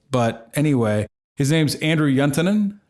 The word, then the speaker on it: Juntenen: anyway his name's Andrew yuntonen did I pronounce that right oh yeah that sounded real finished yeah actually oh good the yaw was a bit German but yeah okay yeah